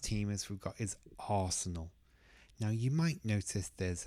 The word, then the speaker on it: Arsenal: in this case got Arsenal is two sounds or two syllables personal Arsenal and the stress the biggest sound is on the first one Arsenal Arsenal it's not Arsenal or anything like that just Arsenal Arsenal second one we've got